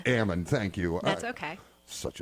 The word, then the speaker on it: Amend: I think I am again it's Ammon Ammon thank you that's okay